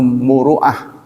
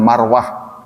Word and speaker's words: muruah: Kalau dalam bahasa Arab kepatutan itu muruah, suka diucapkan salah oleh beberapa orang dengan marwah.